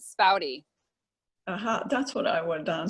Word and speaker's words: Spaude: So my last name is German. From what I understand, it's some like weirded German, and it would be pronounced Spaude. My sister found that out when she was doing her study abroad in France. But we pronounce it Spaude.